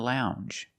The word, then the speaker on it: lounge: And we have the J sound. The regular N, plus the J sound. Lounge. Lounge.